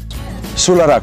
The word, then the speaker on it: Solaraq: for and that's what we get for today Sula Rock that's how he pronounces it comes from a solar Odyssey and